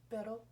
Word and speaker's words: pero: Pero, perro.